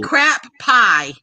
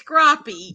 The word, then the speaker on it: crappie: way it was special it would be crap pie and it's not cracked pie it's crappy there's no space it's crappy do you pronounce p-i-e-s-p